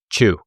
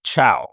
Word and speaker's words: Chou: So best pronunciation for your last name? Chou. Okay. Glad I asked. Because my American eyes want to say Chow.